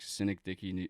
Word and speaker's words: Synecdoche: Who's like Cynic Dicky New York or something. I don't know how to pronounce the first word. Oh yeah, Synecdoche.